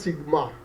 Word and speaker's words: sigma: In Greek alphabets, this symbol is called sigma. Okay, we will also introduce a tool in which this thing will be clarified, clearly mentioned that this symbol is pronounced as sigma.